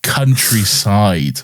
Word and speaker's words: Countrycide: It is Countryside, but it's spelled like homicide or suicide or like whatever. It's spelled weirdly, but whatever.